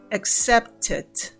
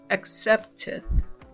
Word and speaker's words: accepted: pasado termina en Ed accepted accepted si ustedes se dan cuenta en la pronunciación se pronuncia como si fuera it repitan conmigo accepted accepted muy bien este verbo